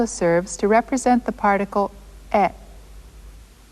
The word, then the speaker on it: へ: But in sentences, it does double duty and also serves to represent the particle e.